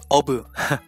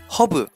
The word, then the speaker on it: 허브: For the word herb, we keep the H sound there. So, we never say obu. We say hobu.